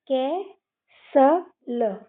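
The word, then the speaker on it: castle: तो यहां पर भी टी साइलेंट हो जाएगा। तो हम इसको कै स ल लास्ट की इ हम पढ़ते नहीं हैं। ये मैंने आपको पिछली वीडियो में भी बताया है। तो हम इसको क्या पढ़ेंगे? कैसल ल। इसमें ये टी भी साइलेंट है और इ भी साइलेंट है।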